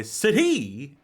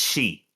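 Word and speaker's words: Sidhe: Maybe uh this was developed by Sadi Interactive. That might actually it's probably not the pronunciation of that. What? That's she she interactive. S I D S I D H E is like she All right.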